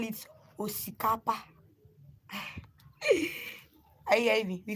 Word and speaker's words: osikapa: So we call it osikapa here in our dialect. Call it osikapa. So osikapa is spelled O-X.